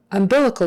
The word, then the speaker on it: umbilical: oou ND is sound umbilical chord umbilical chord the accent is on that second syllable umbilical umbilical Bilal C